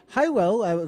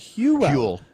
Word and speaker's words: Hywel: Thanks a lot for that coming from Phil Lewis, letting us know that Hywell, the way I was pronouncing it, is actually Hewell. Hewell. Yeah, Hewell. I knew. I didn't want to. And it's Welsh.